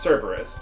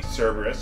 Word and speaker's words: Cerberus: Hey, okay, well anyway, those Beastmasters can summon those Kerberoses, which I think is pronounced Cerberus, or it's supposed to be Cerberus, but whatever.